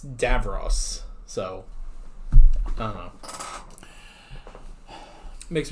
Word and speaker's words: Davros: It's the same thing with I kept saying Davros. We said that in our Genesis reaction, but it's Davros.